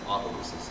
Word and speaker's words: Opelousas: Anyways, it's Opelousas.